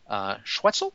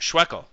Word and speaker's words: Schweckel: And I think you also mentioned, or at least when we were talking offline, about John Schwetzel, I believe that's pronounced? Schweckel. Schweckel. Like Freckle.